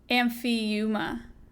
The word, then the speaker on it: Amphiuma: Amphima? Is it sirens or is it hellbenders? How do you pronounce that? We literally talked about it on the podcast. Is it the... Amphiuma.